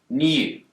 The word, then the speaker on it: new: In the word new, Brits will tend to pronounce a y sound here, new. But Americans don't. They've dropped the yod.